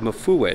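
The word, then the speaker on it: Mfuwe: is the lion of mufawei mafuwe the lion of mufuwe that's how you pronounce it but this is another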